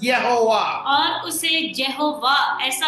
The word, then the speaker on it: Jehovah: Actually, it is not Jehovah, it is Yehovah.